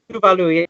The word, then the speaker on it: Tuvalu: most people would regard as somewhat exotic, like Tuvalu. Have I pronounced that right? Tuvalu? Tuvalu, yes.